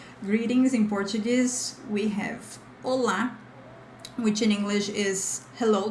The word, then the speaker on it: olá: Anyway, the pronunciation here is olá. It's not this O. There's no O. It's just olá. Faster, okay?